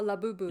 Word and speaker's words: Labubu: Labubu is that how you pronounce it? Uh Labubu.